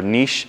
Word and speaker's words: niche: sort of fills this niche or niche. I got in trouble on YouTube. Some guy said, quit saying niche. Apparently that's not how you say it.